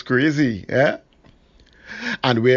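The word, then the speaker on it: Croisee: look for a street sign beginning with q it's spelled c-r-o-i-s-e-e sounds crazy yeah and where it's located depends on how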